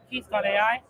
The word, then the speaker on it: KEATH: it is really really easy to use yeah so and Keith is spelled k e a t h yes just let's not make that mistake um and that's because